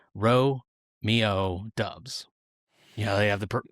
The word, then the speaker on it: Doubs: years at Nevada he was always referred to as Dubs. His head coach Jay Norll called him that. National broadcasters called him that. That Nevada's communication staff called him that. In fact, the Wolfpack's pronunciation guide even reads as follows. Ro Mio Dubs.